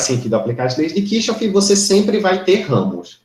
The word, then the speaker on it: Kirchhoff: Para os circuitos que faz sentido aplicar as leis de Kirchhoff, ou de Kirchhoff, se vocês preferirem a pronúncia mais próxima do original, que são os chamados, quando é que eu aplico as leis de Kirchhoff?